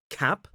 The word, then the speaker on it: cap: And the uh sound is slightly further back. So listen to the difference. We have cap cup.